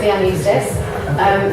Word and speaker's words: Leanne Eustace: We're about the pronunciation is Leanne Eustace.